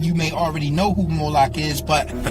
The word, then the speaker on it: Molech: The MLK is focalized as Moolik or Moolok in the Maseretic texts which is an authoritative text in rabbitic Judaism. It's from this pronunciation that we get the contemporary name Moolok.